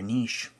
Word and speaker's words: niche: that are finding their niche you know their niche you pronounce it both ways but it was fun